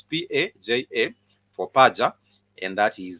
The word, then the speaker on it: paja: it's written uh also its pronunciation is almost going to be very close to just the way you see it written for example it's p a j a for paja and that